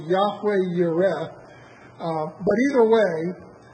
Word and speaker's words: Jehovah Jireh: Jehovah Jireh? It's an unfortunate twist on the way it's probably actually supposed to be pronounced. It's supposed to be Yahweh Yireh.